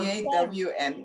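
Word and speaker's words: Dawne: My name is My name is Dawn. Dawn. D A W N E. Although it's it has a E, but it's pronounced D. Dawn. Like the morning dawn.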